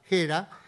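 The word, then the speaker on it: Gera: padre lució era y era con g pero nosotros pronunciamos a la española era que era profesor de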